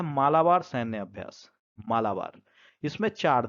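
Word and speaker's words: Malabar: मालाबार यहां पर देखिए मालाबार लिखा हुआ है तो मालाबार नहीं इसको आप सही कर लीजिएगा यहां सही उच्चारण क्या हो जाएगा मालाबार मालाबार सैन्य अभ्यास अगला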